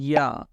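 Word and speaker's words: ي: And the answer is pronounced from middle part of your tongue, touching the middle part of your plate.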